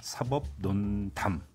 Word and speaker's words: 사법논담: 사법농단 아니고 사법논담이에요. 네, 발음이 좀 어렵습니다. 사법논담. 농담도 아니고 농단도 아니고 논담이 되겠습니다.